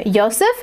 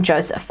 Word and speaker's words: Josef: start off by saying i pronounce his name josef because that is how i have heard the austrian documentaries and news station pieces pronounce his name so i figured that was the most correct way um as he is austrian and so i've stuck with that pronunciation but other people call